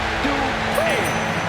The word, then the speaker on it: Dupree: Michael, it's pronounced Dupree.